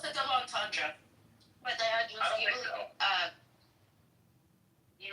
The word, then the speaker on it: entendre: I believe it's pronounced entendre. What is it? I thought it was a double entendre. No, double entendre.